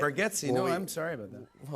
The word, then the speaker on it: Bargatze: And I thought it was Bargatze, but it's Bargatze.